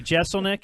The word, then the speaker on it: Jeselnik: yeah I'll hang on all right it's Anthony Jeselnik it's jeff you say it like that yeah